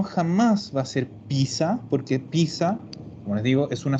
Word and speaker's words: pizza: a ser un ats se zeta ya como pronunciamos esto veronica esta pizza perfecto pizza es una típica pelea porque aquí